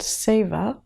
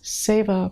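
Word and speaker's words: seva: acupressure protocol, which by the way is called SA, it's spelled S E V A and it's from the language Sanskrit and it means compassionate service. And know that you can do this SA protocol any time you feel called to do it.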